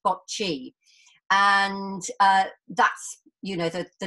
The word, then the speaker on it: Boccia: But the actual name boccia is derived from an Italian word and an Italian game, probably pronounced bocce.